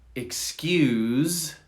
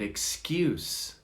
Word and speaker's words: excuse: and then number four we have ex um excuse and excuse excuse is the verb excuse is the noun excuse excuse i can't